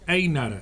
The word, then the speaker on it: Eynard: Una grata visita, la de Einar, ¿así se pronuncia? Sí, Einar.